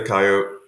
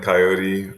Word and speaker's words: coyote: in in English um usually I say coyote um every once in a while I get suckered into saying coyote um but as I'm sure you know both pronunciations are fine um and in fact